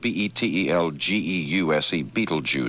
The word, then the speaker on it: Betelgeuse: 50 people died when the french super tanker beetlejuice exploded as it was discharging crude oil at the gulf oil terminal in ireland's battery bay and it's spelled b-e-t-e-l-g-e-u-s-e is the pronunciation that's the star betelgeuse and